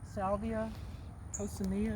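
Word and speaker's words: Salvia coccinea: there's a lot of salvia coconia is how you say that it's spread quite a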